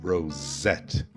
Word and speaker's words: rosette: A sílaba tônica é no Z mesmo. Rosette.